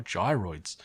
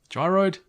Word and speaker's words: gyroid: Plus, they can be planted and grown to create even more gyroids. Gyroid? When I say that word, it sounds like I'm saying it wrong, but that's the way you pronounce it.